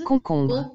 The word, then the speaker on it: concombre: Cucumber is pronounced as concombre in French. Concombre. Concombre. On is pronounced as on. On. Om is pronounced as ombre. Om. So it becomes concombre.